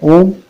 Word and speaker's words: ओम: वो है ओम, और ओम 3 शब्दों से बना है, आ, उ, म। इन तीनों शब्दों से मिलकर ओम बना है। का सही उच्चारण होता है आ जो है वो गले से निकलता है, उ जो है ओष्ठ